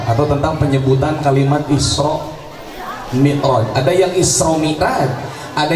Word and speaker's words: Mi'raj: Ada yang Isra Mi'raj, ada yang Isra Mi'raj, ada yang Isra Mi'raj. Jadi yang benar yang mana? Menurut literasi bahasa Arab, kalau Isra Mi'raj, kalau Isra Mi'raj, karena ro barisnya jabar, hukumnya tafhim, dibacanya tebal.